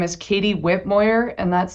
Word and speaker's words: Whitmoyer: Uh, my name is Katie Whitmoyer and that's spelled W H I T M O Y E R.